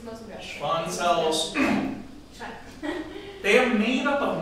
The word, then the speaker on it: Schwann: Now, apparently in German, W is pronounced V, so it's Schwann cells.